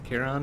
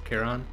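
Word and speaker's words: Chiron: get the pronunciation right i think it's a hard ch right so cairon at least that's how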